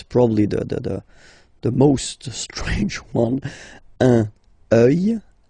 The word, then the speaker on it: œil: Un œil, des yeux, okay? Don't pronounce the final x as usual.